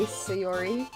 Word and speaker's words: Sayori: Whatever you say, Sayori. You pronounced that correctly.